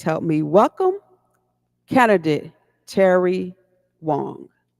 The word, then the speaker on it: Wang: It it is Wong. It's I know it spells like Wang, but it's Wong.